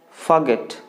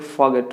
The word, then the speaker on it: forget: You have to pronounce forget.